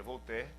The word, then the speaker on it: Voltaire: muito conhecido na verdade se inscreve voltaire em português mas se pronuncia vou ter ele em todas as